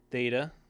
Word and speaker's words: Theta: with a line horizontal Theta Theta that th sound thth th Yoda is like our